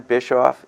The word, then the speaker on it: Bischoff: host for today and our guest is Diane bishof James did I pronounce that correctly yes you did all right